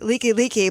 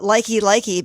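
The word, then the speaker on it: Likelike: kai or we have a highway that's like leaky leaky but they call it likey likey because it's spelled l-i-k-i l-i-k-e it's so funny because you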